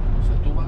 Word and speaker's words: Setúbal: Setúbal. Tiene acento en la U.